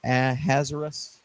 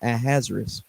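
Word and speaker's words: Ahasuerus: Xerxes at the time let me let me pronounce his name with a Hebrew tongue it's azerus I think so we'll use the Hebrew tongue Xerxes was his Persian name but the Jews called him azerus so azerus sent out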